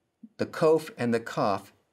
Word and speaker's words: kof: the ts in boots kof sounds like the k in king the kof and the cough sound